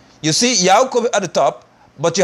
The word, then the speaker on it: Yaakov: You see Yaakov at the top, but you have Jacob at the bottom. Y-A-A-Q-O, of course, is pronounced Yaakov.